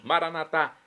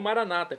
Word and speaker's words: Maranatá: E agora eu clamo do aramaico dialeto de Jesus, Maranatá, como dizemos nós católicos, ou Maranata, como dizem nossos irmãos separados, os evangélicos ou protestantes.